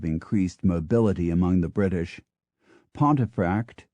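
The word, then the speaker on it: Pontefract: Mobility among the British pontif in West Yorkshire was once pronounced pum but now it is always pronounced as spelled the same Fate has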